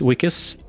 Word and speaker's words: Weekes: Weekes. Thanks for joining us. Yes, thanks, yes. The name is pronounced Week.